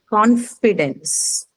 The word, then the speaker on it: confidence: Then comes confidence. Confidence. Confidence is what? Now, Noun. Yes. So where is it going to be marked? Confidence. um, It's a noun. So so remember the first first syllable. syllable. First First syllable. syllable. First syllable.